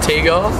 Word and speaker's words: TGAR: I pronounce it Tee-Gar. Tee-Gar, right. But it's an acronym, so it's TGAR.